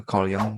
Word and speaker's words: Jung: riset dari Kong k Jung itu Kong bacanya dia riset tentang shadownya